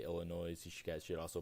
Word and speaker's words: Illinois: are probably saying that it's pronounced Illinois I can't say it like it's just uncomfortable for me to say Illinois so Illinois's is the way I'm gonna say it throughout this whole episode if you guys don't